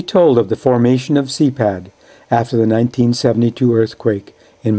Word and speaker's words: CEPAD: So, CEPAD has become an umbrella organization set up as the Nicaraguan Protestant Council of Churches, CEPAD, pronounced CEPAD in Spanish, with many subsidiary activities,